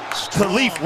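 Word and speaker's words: Kalif: He signed a new contract, so he went to the PR staff and said, hey, by the way, it's not pronounced Khalif, it's Khalif.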